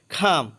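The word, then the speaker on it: come: খাম অর্থ আসা। এখানে সি এর উচ্চারণ খ হবে, ক না হয়ে।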